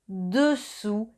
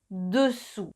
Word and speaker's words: dessous: que estás diciendo debajo, dessous. Entonces, cuidado, dessus, dessous, dessus, dessous. Y una cosita más, la S final de dessus y dessous es silenciosa, o sea que no se pronuncia.